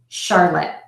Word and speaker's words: Charlotte: or the girl's name Charlotte spell the CH but pronounced as sh for those of you